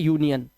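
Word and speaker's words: union: यूनियन आर के बाद फिर एक आई आया।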